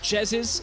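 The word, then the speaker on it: Jesiz: For the record, Martin, it's pronounced Jezis, and that's going to be a Gragas going up to the top lane instead.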